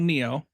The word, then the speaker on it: NIO: It's not like Neo or something like that, but pronounced like Neo, like the guy from Matrix. But they have a car company called NIO, and they have batteries that you can swap out.